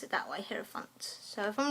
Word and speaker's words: hierophant: I'm going to pronounce it that way, hierophant.